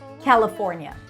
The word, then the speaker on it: California: California. I think that's how I learned the pronunciation of this word when I was 12. California. California. You can also reduce the le to a schwa.